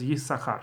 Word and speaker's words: Issachar: Ashkenazim, pronounce it as Issachar. So it's one of the exclusions that's just always read not the way it's written.